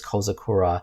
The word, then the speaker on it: Kozakura: as Little Cherry Blossom, which implies this name should be pronounced like kozakura. And they're spelling with a za instead of a sa, and ko generally refers to small or young, so kozakura, little cherry blossom.